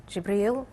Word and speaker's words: Jibreel: to me through the angel jibreel that's how you say it in Arabic and Gabrielle in english and then exhort people